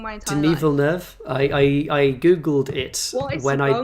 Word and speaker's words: Villeneuve: say it something like Villeneuve. Yeah. Villeneuve, but I He's French Canadian, yeah. So I think a French pronunciation is probably the closest.